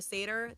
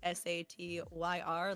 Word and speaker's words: Satyr: And you can find me at the Satyr. That is Satyr, like the mythological creature, not the Jewish sad meal.